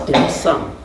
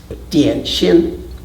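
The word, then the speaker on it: 點心: for me because of the two Chinese characters that in Cantonese are pronounced at some and Mandarin is dan-shim so we like to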